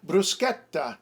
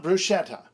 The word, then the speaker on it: bruschetta: cherzo or cherzo scherzo and bruschetta not bruschetta third possible source is